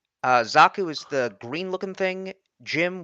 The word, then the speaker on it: GM: Jim, which is spelled GM, is the red and white thing.